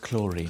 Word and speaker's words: Clarine: This was the way it went for many years for Maureen and their partner and lover, Clarine. Wait, what? It's pronounced chlorine.